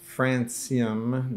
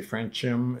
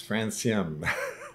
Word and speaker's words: Francium: By the way, it's pronounced Francium. The C is pronounced as an S because it's the name of a radioactive metal.